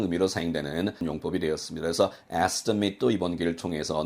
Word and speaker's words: estimate: The number is just an estimate. estimate가 아니고 estimate이라고 몇 번 강조를 했었죠. at로 끝나는 것이 동사가 아니고 명사, 형용사 혹은 부사로 사용됐을 때는 발음이 it로 난다는 점 마지막으로 강조합니다.